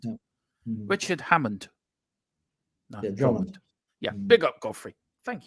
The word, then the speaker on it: Drummond: Is that how you pronounce his surname, Philip? I don't want to get it wrong. Yeah, Drummond. Yeah. Richard Hammond. No, Drummond.